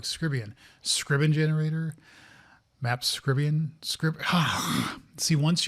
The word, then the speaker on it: Scriban: Map via Scribian generator? Scribian. See, I keep saying it wrong. Scribian. Scriban generator.